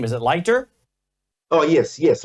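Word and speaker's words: Leiter: born in America the new Ambassador Michael uh lighter is that how you say his name yel huh yel okay but his last name is it lighter oh yes yes lighter he looks like he goes by quote Michael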